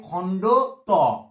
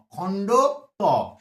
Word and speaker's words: খণ্ড ত: তয়ের অর্ধেক উচ্চারণ, খণ্ড উচ্চারণ, তাই এর নাম হচ্ছে খণ্ড ত, খণ্ড ত, ক্লিয়ার?